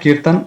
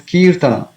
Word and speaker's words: Kirtana: It's not Kirtan, it is Kirtana.